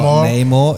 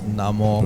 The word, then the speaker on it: Namor: villain, it really helped your joke even more because I've heard the pronunciation of the villain. Yeah. It's not Namor, it's Namor. Namor.